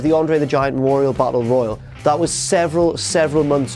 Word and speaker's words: battle royal: blonde PA mentions a battle royal watch how he pronounces it he says barber Royale like the popular Japanese novel on film yeah as if he's at